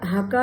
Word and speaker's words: Hakka: आहे त्याचा हाका म्हणजे इंग्रजी स्पेलिंग असं आहे एच ए के ए दोनदा के लावतात पण आपण उच्चार करताना फक्त हाका असं करतोय तर हाका चा अर्थ